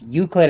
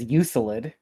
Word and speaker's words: Euclid: I can't believe he pronounced Euclid as Uselid.